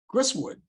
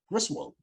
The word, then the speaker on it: Griswold: Pollock Weds actress Claire Bradley Claire Bradley uh chriswood Griswold that's how you pronounce it okay there you go 1987 Dan